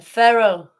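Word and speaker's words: ferrule: of the factory a feral it's pronounced like feral like is an feral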